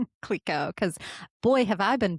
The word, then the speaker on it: Clicquot: thank you for telling me how to pronounce Clico, because boy, have I been butchering that for 20 plus years.